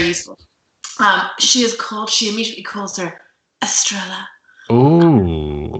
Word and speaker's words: Estrella: I think it's Estrella. Because the double L in Spanish is a Y. Estrella.